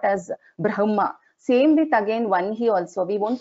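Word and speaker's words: वह्नि: our gurus is that it is pronounced as Brahma and Vanhi, not as Brahma and Vahani.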